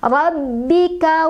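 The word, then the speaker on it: رَبِّكَ: Rabbi, baknya punya tasdid jadi kita agak tekan bacanya. Rabbi, rabbika was, was, ya, sinnya juga punya sifat hamas jadi kita alirkan udaranya.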